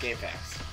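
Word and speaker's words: GameFAQs: game faq's the website it's pronounced game facts accepted different depths of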